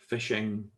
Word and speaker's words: phishing: So PH here pronounced as F. Okay, phishing.